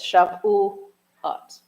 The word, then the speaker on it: Shavuot: But in Shavuot, for example, we have put the syllable dividers in there. So it's Shavuot.